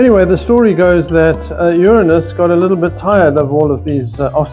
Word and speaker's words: Uranus: birth without male intervention to the sky to Uranus notice how carefully I pronounced the word there's Uranus there and Uranus